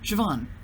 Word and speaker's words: Siobhan: Siobhan, I know how to pronounce that name because I was manager named that.